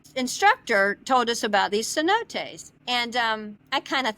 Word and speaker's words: cenotes: Well, you had said that you dove in the is it cenoda? Tell me how they pronounce cenotes.